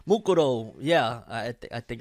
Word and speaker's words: Mukuro: yomi and makuro right mukuro yeah i think i think it would be probably pronounced mukuro instead of makuro which dubs back in